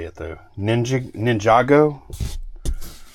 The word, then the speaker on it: Ninjago: say it though ninj Ninjago I used to say ninjo and I don't think that was right but we're going to